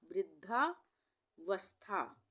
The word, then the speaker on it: वृद्धावस्था: ये हो गया वृद्ध उसके बाद धा वृद्धा वस्था वस्था। वस्था में आधा स का उच्चारण आ रहा है। वथा नहीं आ रहा है। वस्था बोल रहे हैं।